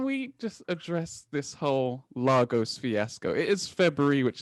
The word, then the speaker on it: Lagos: it's pronounced lagos and it's not pronounced largos it is lagos lagos lagos lagos thanks